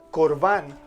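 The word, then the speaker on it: קרבן: proviene del idioma hebreo se pronuncia corbán o córbano en plural que significa ofrenda dádiva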